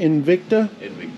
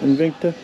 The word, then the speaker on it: Invicta: Invicta, yes. Invicta.